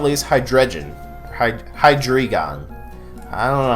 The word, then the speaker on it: Hydreigon: And last but not least, Hydreigon. Hydreigon. I don't know how you say it. I've heard Hydreigon. No, Hydreigon doesn't make sense. Hydreigon. When you say Hydreigon, it sounds like you're saying the G twice.